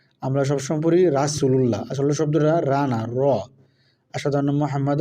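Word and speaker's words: رسول الله: র আমরা সবসময় পড়ি রাসুলুল্লাহ আসলে শব্দটা রাধার মুহাম্মাদ রাসুলুল্লাহ পড়ি কালিমা পড়ার সময় লা ইলাহা মুহাম্মাদুর রাসুলুল্লাহ পড়ি আ রাসুলুল্লাহ শব্দটা রসুলুল্লাহ র মোটা হবে রসুলুল্লাহ তারপর হচ্ছে যা জিজের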